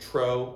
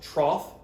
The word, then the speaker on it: trough: word it's not pronounced tro although it does look like dough it's pronounced trough like cough i hope you don't